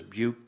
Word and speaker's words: buke: He pronounces buke to rhyme with puke, a mark of the true believer.